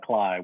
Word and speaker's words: Klay: It looks like Klay, pronounced like Klay, which I think we do just to screw with people. It's a Swiss German name.